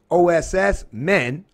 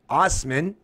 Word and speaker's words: Asman: plate railroad worker David Asman pronounced OSS men Ostman of Melville Saskatchewan first